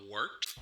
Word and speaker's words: Wort: Hey, moron, it's pronounced the Wort.